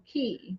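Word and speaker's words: Cay: Okay, so it is pronounced key. K, but pronounced key.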